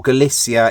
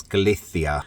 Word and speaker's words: Galicia: destination we are in galithia now or galsia if you want to pronounce it the uh English way but the Spanish way is galithia Steve's on lunch duty